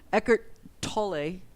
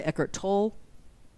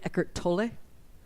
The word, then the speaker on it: Eckhart Tolle: Eckhart Tolle is how I say his name, which, as I understand it, is the closest way to pronouncing his name in German.